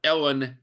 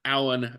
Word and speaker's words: Alan: Or one time my stepmother pronounced it, it came out Ellen, not Alan.